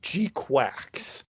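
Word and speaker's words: GQuuuuuuX: It is a G Q followed by six U's and then an X. I think the way it's supposed to be pronounced is Gqu Quacks.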